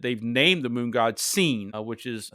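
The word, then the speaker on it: Sin: Uh in um we see that the in in cultures that that they've named the moon god seen which is spelled s i n but pronounced seen as if you you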